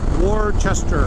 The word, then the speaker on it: Worcester: can pronounce properly Worcester most people say Worcestershire the worcestershires or a chair sir it's War Chester or chesterbot uh Massachusetts the land where